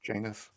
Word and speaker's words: Janus: him that huge anus it's actually Dr Janus yeah what's funny is I pronounce that differently until he said that because I play a